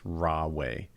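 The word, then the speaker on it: Huawei: company named it's it starts with an h but i think it's pronounced raw way and um they made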